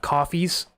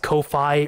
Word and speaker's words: Ko-fi: But in the meantime, thank you all for your donations of coffees. I don't know if the site is pronounced Ko-Fi or coffee. I pronounced it Ko-Fi at first, but I think it's just coffee.